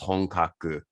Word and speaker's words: Honkaku: as the name of the company but it's pronounced hongkaku that's right i knew i was and it